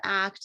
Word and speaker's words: ACT: more about what is act sure and it's pronounced act and it's it's so funny that the the